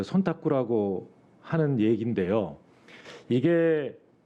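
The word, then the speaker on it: 忖度: 그 일본에 있는 관행 중에 손탁구라고 혹시 아십니까? 한국말로는 촌탁이라고 읽혀지는데 그게 무슨 뜻인지 아십니까?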